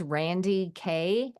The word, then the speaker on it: Randye Kaye: so my name is Randy K and both of them are spelled with a y e the E are silent but I talk a